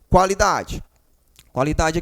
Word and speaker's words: qualidade: cinco sons certo tranquilo qualidade aqui ó quá quá Observe você tem que pronunciar isso daqui ó quá a gente Escuta a letra U escuta qualidade né qualidade